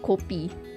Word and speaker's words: kopi: That's how you spell coffee in my language, kopi. We pronounce it kopi.